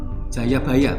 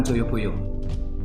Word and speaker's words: Jayabaya: setelah badai 15 hingga membacanya bukan jodoh tapi jatah dan prasangka Jayabaya bukan Joyoboyo karena waktu itu kita belum mengenal nah ketika di di